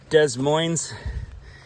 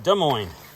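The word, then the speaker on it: Des Moines: But you know there's this city in Iowa Desmos. But that's not how you pronounce it. It's pronounced De Moine cuz it's French.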